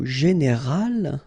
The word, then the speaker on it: général: Okay, but then phonetically it's quite interesting because you don't make any difference. You will get so général at the masculine form,